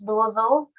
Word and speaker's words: Louisville: excited to be here today um it is pronounced louisville which nobody except people from louisville pronounce it